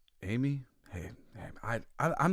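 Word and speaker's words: Jaime: get it wrong the the Hispanic pronunciation of Jamie is apparently Amy hey I I'm not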